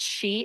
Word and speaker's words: qi: by your organs and there's something called chi energy which it's spelled qi.